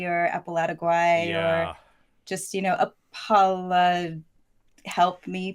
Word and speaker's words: Apalategui: But it's been, it's usually like Apalategui or Apalategui or just, Apala, help me, please. It is one of those that once you hear it pronounced, they're like, oh, yeah, of course. It's actually fairly phonetic, yeah.